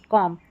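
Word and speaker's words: comb: उच्चारण ब होता है, नहीं, बी यहाँ पर साइलेंट है, एम और बी में बी साइलेंट है, सिर्फ एम का ही उच्चारण हो रहा है, वो भी म। तो लैम, बॉम, थम, कॉम, तो यहाँ पर बी को भूल जाए, बी का उच्चारण नहीं करना है।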